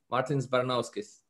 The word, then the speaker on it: Martins Baranovskis: Martins Baranovskis.